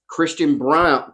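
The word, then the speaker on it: Braun: __ ] they were like Christian Brown I was like you mean Brun they was like no Christian Brown Okay cool so yeah they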